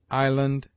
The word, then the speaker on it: island: S is mute in isle, island, domain, viscount.